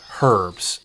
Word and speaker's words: herb: there that call it herbs its herbs silent H so one of those weird things of the English language howl it doesn't work